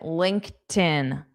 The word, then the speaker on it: LinkedIn: This ED is pronounced as just T.